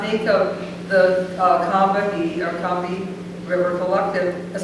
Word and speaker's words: Combahee: were being interviewed, and they always referred to it as Combahee. And so I've been telling people that. I said, well, we pronounce it the way that black women in the Northeast, we saw 3 syllables, so we pronounce all 3.